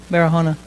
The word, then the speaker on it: Barahona: And today, we have a very special Donna Campos Barahona. Did I say it right? Barahona.